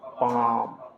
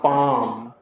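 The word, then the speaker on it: palm: half इसी तरह से प ए एल एम तो यहां देख रहे एल एम आ गया है तो एल को हम लोग नहीं पढ़ेंगे क्या पढ़ा जाएगा वो पाम क्या पढ़ा जाएगा बच्चों पाम इसी तरह से सी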